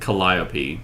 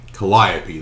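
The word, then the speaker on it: Calliope: So you got you got Kaisar and Collopy. Colliopy.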